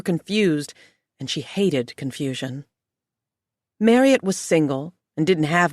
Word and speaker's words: Marriott: Her name was Marriott to rhyme with Harriet as Marriott had mentioned once.